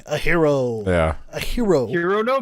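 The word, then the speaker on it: Hiro: like hir o or ji ro but it's pronounced as no like a hero yeah a hero hero no boo protagonist second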